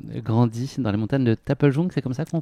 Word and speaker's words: Taplejung: Sanguay, tu as grandi dans les montagnes de Taplejung, c'est comme ça qu'on prononce? Oui, c'est ça, Taplejung, à l'est de Népal.